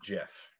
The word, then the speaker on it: GIF: we owe him the respect to calling it jeff because that's what he says it is he